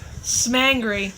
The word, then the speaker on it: Smangry: Smangry. That's how it's pronounced. Smangry. Don't let him tell you any different. Yeah, he gives us shit because we're like, It looks like angry, so it's Smangry.